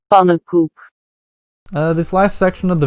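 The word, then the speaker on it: Pannenkoek: wrong in my defense whenever i hear people talking about him everyone pronounced it like panon koik but a high number of dutch people have informed me that it's pronounced poop this last section of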